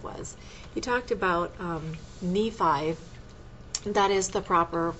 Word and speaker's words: Nephi: out what it was he talked about um Nephi that is the proper pronunciation Nephi um writing this story and he writes one